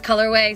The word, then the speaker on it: Colorwae: slash colorway and that's colorway spelled like waze name w-a-e oh and look at